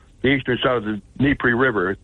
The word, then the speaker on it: Dnipro: eastern side of the Dnipro River. The D's not pronounced. It's Dnipro or Dnipro River.